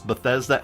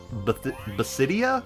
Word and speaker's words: Bethesda: I always mispronounce Bethesda as Basidia for some reason back in the day.